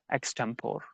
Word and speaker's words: extempore: Extempore. Now, it is pronounced as extempore, extempore, extempore.